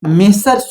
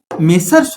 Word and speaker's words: Messrs: जैसे मिस्टर्स राम and Shyam और दूसरा जो होता है वो मेसर्स होता है। एम E double S आर एस। लेकिन ये जो मेसर्स होता है इसका प्रयोग जब भी किया जाता